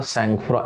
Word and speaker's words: sangfroid: है, तो हमने बोला सैंगफ्रॉ, SANGFROID। दोनों के बीच में एक स्पेस होता है ना, हाइफन होता है एक्चुअली, सैंगफ्रॉ। इस वर्ड का प्रोनाउंसिएशन सैंगफ्रॉ, SANGFROID, राइट?